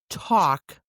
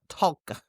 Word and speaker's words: talk: Now the L is silent, but it still hangs out in the spelling, like a ghost of sounds past.